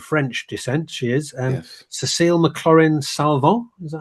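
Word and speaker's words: Cécile McLorin Salvant: Cécile McLaurin Salvant, is that how you say it?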